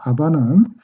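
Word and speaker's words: אבא: 여기서 아바는 예수님 당시에 사용하셨던 아라마인데요. 아버지를 친근히 부리는 우리나라의 아빠 같은 개념이고 발음도 아빠하고 거의 흡사합니다.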